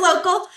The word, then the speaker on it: Locl: Um but you know what is local? Um and why is it spelled like that? Did I pronounce it correctly? It is local and we are here to help you optimize your Google business profile.